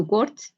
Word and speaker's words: worked: Entonces, si se dan de cuenta, en la pronunciación nos suena una T final. ¿Y eso por qué va a ser? Porque cuando el verbo termina en K, en este caso worked, entonces la pronunciación va con una T, I worked, para pronunciar correctamente los verbos, ¿cierto?